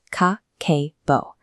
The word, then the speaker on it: Kakeibo: She introduced a financial ledger called the Kakeibo, pronounced ka-ke-bo. It ignores complex digital automation, relying instead on a deliberate return to analog tools, a pen and a physical notebook.